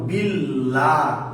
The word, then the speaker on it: বিল্লাহ: আল্লাহ শব্দের ডান পাশে যদি জের থাকে তাহলে আল্লাহ শব্দটা পাতলা করে পড়তে হবে, চিকুন করে পড়তে হবে, উচ্চারণটা পাতলা, যেমন বিল্লাহ।